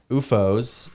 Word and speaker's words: OOFOS: UFOs.